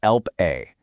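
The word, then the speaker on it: Lp(a): Let me introduce you to Elp A, pronounced elp little A.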